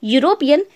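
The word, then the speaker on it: European: Pronunciation निकल रहा है माफ कीजिएगा, इसका जो प्रोनाउंसिएशन निकल रहा है यूरोपियन, उसमें या की ध्वनि सुनाई पड़ रही है।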